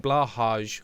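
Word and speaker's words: Blåhaj: or twice rest child the J in blahaj so Blaha is silent gotcha Blaha is the Ikea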